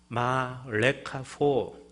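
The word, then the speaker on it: מה לך פה: 마 레카포, 히브리어로 그렇게 발음합니다.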